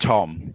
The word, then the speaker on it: Thom: hi i should just it's pronounced tom it's just a silent age that's okay i just